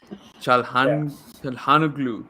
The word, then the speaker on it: Çalhanoğlu: Çalhanoğlu. Yeah, that's how it's said.